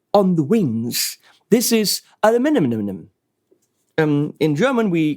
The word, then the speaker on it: aluminium: And in the US, it's wrong, saying aluminum. Actually, in English, it's aluminium, so the stress is on the I. And in American, it's aluminum on the U.